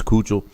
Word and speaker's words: Keuchel: I know it's not Keuchel, but I think it's Keuchel.